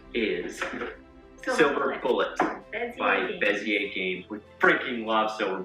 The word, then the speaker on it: Bezier: game by bezier games which we just learned how to say it's like bezier we've been saying like vizier for far too long silver bullet has quickly